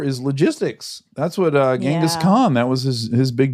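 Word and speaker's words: Genghis Khan: gask Khan book and the author pronounced it jenus Khan and I I don't want that to be true but it might but that might be how you say his name jenus Khan this is like Rihanna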